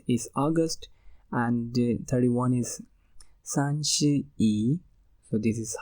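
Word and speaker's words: 三十一: one eighth month is August and 31 is sanchi e so this is how we pronounce 31 in Chinese language and it is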